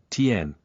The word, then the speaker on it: Tian: Lin, Lin, Feng, Feng, Shi, Sh, Tian, Tien, think Dragon Ball.